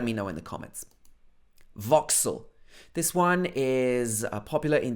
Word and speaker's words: Vauxhall: This is not Vauxhall or Vauxhall. It should be Vauxhall.